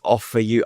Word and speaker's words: Ophiuchus: So it's Ophiuchus. I'll spell it.